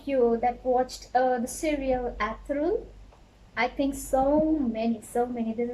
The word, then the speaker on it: Ertuğrul: is a cause, because you can notice this in this spelling there is yumuşak G. Yumuşak G. So before this, you don't know what is yumuşak G. So maybe so many people spell it Tagor. But now you know that you have to avoid this. So you can say this Ertuğrul. This is the rule.